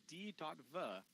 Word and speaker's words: Diva: The diva is pronounced as D.V in Japan.